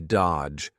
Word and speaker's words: dodge: Notice here the D is silent, the middle D, dodge, dodge his calls forever.